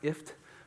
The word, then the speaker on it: IFTTT: I think it's phonetically pronounced IFT.